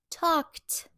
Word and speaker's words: talked: Talk plus ed. Talked. Sounds like t.